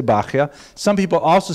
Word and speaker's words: Bahya: The customary pronunciation is Bahya, but it's not a regular Hebrew spelling at all. Bahya would be something like Beit Chet Yud He, maybe. But people say Bahya.